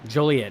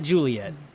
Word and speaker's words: Joliet: Joliet, not Juliet.